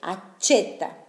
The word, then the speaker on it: accetta: Acá también accetta la doble C, però igual la pronuncia es de C, accetta la carta di credito.